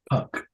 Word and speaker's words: Puck: Puck. Rhymes with Fuck?